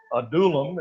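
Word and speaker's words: Adullam: themselves to David and so a deulim is the way you pronounce that word and it's a cave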